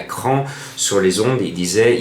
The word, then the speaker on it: Craon: il ya quinté à cran sur les ondes et disait il ya un quinté à craon alors je disais à giraldo mais non c'est pas à craon c'est à cran comme bien d'autres villes